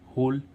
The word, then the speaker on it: hole: ऐसे इसमें HOLE, होल, TONE, tone. अब ऐसे इसमें फाइल, FILE। अब इस आई का उच्चारण आई करने के लिए लास्ट में हम क्या लगाते हैं, ई, इसलिए इस फाइल।